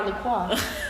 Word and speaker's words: La Croix: thank you look loquacious well i'm drinking my lacroix yes that's how you pronounce it too oh i was going to